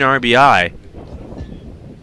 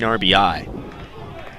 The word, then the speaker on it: RBI: plate now 227 is his batting average 13 RBI or ribbies some people I get a call there's a fun debate about how people should pronounce RBI you know people sometimes will say